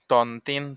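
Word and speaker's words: ط: মোড়ানো তার নাম ত ত এর উচ্চারণ আছে ত উচ্চারণ কেমন হবে ত জিহ্বার আগা হতে মোটা ভাবে আদায় হবে ত জবর ত ত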